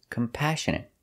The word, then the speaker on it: compassionate: our next word is compassionate we put the stress on the second syllable compassionate compassionate means